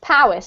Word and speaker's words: Powys: This one's pronounced Powys, because this is exactly where my dad lives, actually, so I know that one.